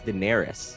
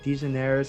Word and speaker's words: Daenerys: It's Daenerys. That's it. Daenerys, you got it. I was just trying to think how to pronounce it. I was like, it's like Dejaneres or Dejaneres. I was like, it's something along those lines.